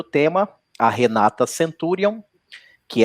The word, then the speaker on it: Centurion: Eu pronunciei o seu nome certo? Centurion.